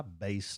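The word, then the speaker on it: BÉIS: It's pronounced Base, but it's BEIS. Again, we'll have that in the show notes for you on the podcast, wherever you listen. I'm going to take my Base to Mexico.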